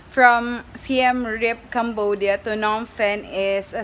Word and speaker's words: Phnom Penh: Yun daw yung ka-pronounce. Phnom Penh. Phnom Penh.